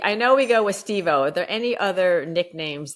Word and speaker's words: Stevo: He'd yell out, he'd whistle, and he'd go, Stevo! And he had a strong Spanish accent. So he'd go, Stevo! So you barely pronounce the V, right?